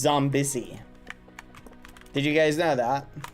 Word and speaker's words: Zombie Izzy: know, you've been pronouncing Zombie Izzy's name incorrectly this whole time. Zombie Izzy's name is actually You got to rejoin. If you're in it, rejoin. Zombie Izzy's actual name, chat, is pronounced Zombissy.